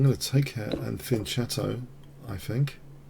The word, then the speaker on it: fianchetto: Okay, I'm going to take her and fianchetto, I think. Or fianchetto, if you prefer that pronunciation. I like the cello sound.